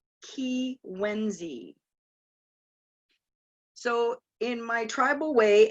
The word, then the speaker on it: Kiiwenzii: k III w en Z III and it's pronounced ki when Z so in my tribal way and in most